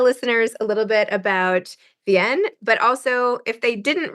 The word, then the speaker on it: Vianne: Vienn. In French, it's Vienn, but you can pronounce it any way you like.